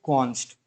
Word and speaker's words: const: ओ एन एस टी इसे हम pronounce कैसे करते हैं हम प्रोनाउंस करते हैं कॉन्स्ट तो कॉन्स्ट क्या हो